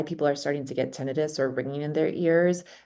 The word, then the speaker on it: tinnitus: Oh, Oh, tinnitus. It's tinnitus. Yeah, I thought I or pronounced it, yes, tinnitus, correct.